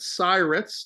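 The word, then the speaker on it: SIRATS: uh we called it cats to rhyme with pirates and uh it stands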